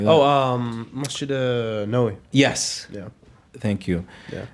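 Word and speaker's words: Masjid Nabawi: Going to the I can never pronounce that masjid's name. It starts with an N, Nawabi or something like that. Oh, Masjid Nawawi.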